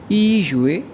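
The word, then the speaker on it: 一月: चूँकि जनवरी साल का पहला महीना है तो इसको प्रोनाउंस करते हैं ई युए, और फरवरी जैसे दूसरा महीना है तो ये प्रोनाउंस किया जाता है अर युए।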